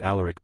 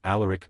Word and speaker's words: Alaric: You'll probably want to pronounce it allaric, but it's all Alaric.